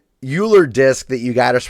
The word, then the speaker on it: Euler: anyways dumbass thank you yes it is the Euler disk but it is spelled EUL er it's awesome super fun